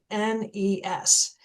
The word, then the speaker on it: Beguines: Now I'm going to pause and I'm going to spell that because it's incredible. Nobody has heard of the Beguines. It's Beguines.